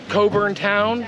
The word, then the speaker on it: Cockburn Town: So, this is uh Coburn Town, spelled like Cockburn Town, pronounced Coburn Town.